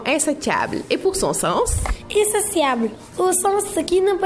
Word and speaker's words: insatiable: comblé c'est bien insatiable même si sécrit t I a b l e il il faut bien prononcer insociable et non insotiable pour les du mot